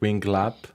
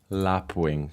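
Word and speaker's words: lapwing: lap wing of course not we not Wing lap lap Wing that's how you say it yeah I always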